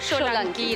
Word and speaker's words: সোলাঙ্কি: এবং অবনীন্দ্রনাথ ঠাকুর যেহেতু তালব্য স ব্যবহার করেছিলেন বানানটায়, তাই আমার নামের বানানটা তালব্য সোলাঙ্কি, আর তাই উচ্চারণটাও সোলাঙ্কি রাখা হয়েছে।